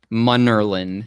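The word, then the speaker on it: Munnerlyn: played for the panthers captain munderland did i pronounce that correctly monerlin yes captain monerlin m-u-n-e-r e l-e-i n that's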